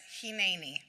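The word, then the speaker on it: הִנֵּנִי: Except since Abraham didn't speak English, what he actually said was Hineni. This word is spelled out in Hebrew 178 times in the Bible, but 17 times, all except for 17 times, it's pronounced Hineni.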